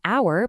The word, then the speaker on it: hour: We have an hour because that h is silent and you hear the vowel sound first.